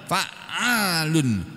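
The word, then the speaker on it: فَعَّالٌ: Fa'alun bacanya harus benar loh ya.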